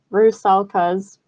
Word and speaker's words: rusalka: western europe the rusalkas i looked up the pronunciation of that that's what google told me rue salkas our slavic counterpart of the greek sirens um